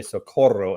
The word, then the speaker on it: Socorro: Give everybody a little 30-second rundown of who is Socorro, and did I say it correctly? I want to roll the R.